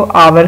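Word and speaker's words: hour: फिर है आवर, घंटे को आवर कहते हैं, आवर, अब इसमें भी एच साइलेंट है।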